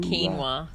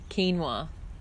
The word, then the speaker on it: quinoa: like a quinone ax4 neo quinoa quinoa I was put with the Q's yeah that's how it started it's a South American anyway I'm just telling you how it's pronounced you can argue with me or you can just copy it anyway so I had